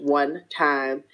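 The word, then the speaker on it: 1TYM: in a capital tym it is pronounced one time they are or was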